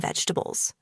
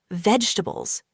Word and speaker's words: vegetables: A lot of people say it like this, vegetables, slowly and with every syllable. But in natural English, we often say it faster and smoother. Vegetables. Only 3 sounds.